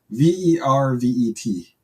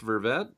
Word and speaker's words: vervet: all right yeah is it verved or Verve v-e-r-v-e-t is it pronounced vervette oh ver vet is it or verbet oh